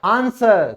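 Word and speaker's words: answer: आंसर, तो इसमें S के बाद W आया है तो ये साइलेंट हो गया।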